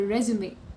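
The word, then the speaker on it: résumé: you heard it right the correct pronunciation of this word is resume and not resume because resume is a word which is french in origin and it means summary whereas the other word resume has another meaning which means begin again or to start doing something again so yes the correct pronunciation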